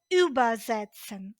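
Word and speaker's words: übersetzen: розглянемо з вами дієслово юбезсен зверніть увагу наголос Я ставлю на префікс тому що це дієслово з відокремлюваним префіксом І от базн означає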